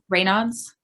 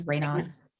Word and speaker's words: Raynaud's: How do you say it? Raynaud's. That's how she pronounced it. It was Raynaud's.